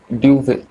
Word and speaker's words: Dubhe: है उसका नाम है ड्यूवे। आप लोग यहाँ पे स्पेलिंग देख सकते हैं, DUBHE, ड्यूव हम उसको बोलेंगे।